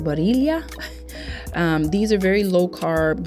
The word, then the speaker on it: Barilla: Not only that, I came across these Protein Plus spaghetti noodles from, I think it's pronounced Barilla.